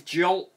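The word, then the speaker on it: Galt: And with these Jalt toys, I can never pronounce that.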